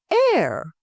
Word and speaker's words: heir: Air. The H is silent, making it sound like air.